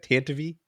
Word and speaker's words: Tantive: Is that how you pronounce that? Tantive? That's how they said it in the radio drama.